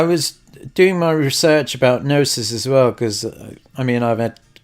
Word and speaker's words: Gnosis: Now, there is a bit of crossover between Cow Protocol and Gnosis. The G is silent, GNO.